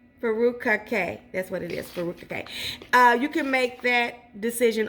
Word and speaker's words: furikake: Furikake.